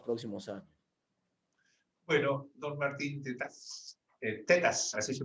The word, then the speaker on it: Tetaz: Bueno, don Martín Tetas, así se pronuncia, ¿no?